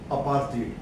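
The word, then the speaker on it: apartheid: डी ई आईडी अर्थ लेकिन are silent होता है बोलने में अपार्ड तो एंटी अपार्ड मूवमेंट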